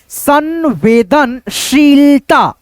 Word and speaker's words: संवेदनशीलता: पे है शीलता संवेदनशीलता देखो जो बड़ी ई की मात्रा लगता है ना तो हम लोग इसको को घी करके बोलते हैं। जैसे संवेदनशीलता संवेदनशीलता ऐसे करके थोड़ा सा बोलेंगे तब हमारा उच्चारण बिल्कुल परफेक्ट आएगा।